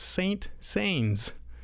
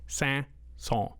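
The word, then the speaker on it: Saint-Saëns: it in print and I thought it was pronounced Saint Saens because that's what it looks like I had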